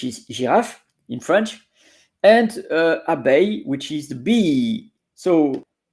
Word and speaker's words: abeille: That's interesting because it's Abeille, as you see, abeille, and it's pronounced A. You notice Eille, A. So it's good to know because there is also groseille, pareil, appareil. So EIL or EILLE, it's A.